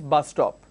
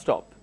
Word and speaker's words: bus stop: a word which is bus-stop so when I am pronouncing it I don't say stop when I am pronouncing I removed one s and I just say bus stop because I'm linking the